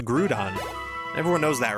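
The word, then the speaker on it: Groudon: It's the way that It's the way that uh it's supposed to be pronounced. Grudon.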